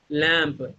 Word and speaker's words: lamp: And here, lamp, M is not pronouncing here.